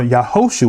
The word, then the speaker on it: Yahushua: so Joshua or yahushua well that's how you say his name in the Hebrew tongue the son of noon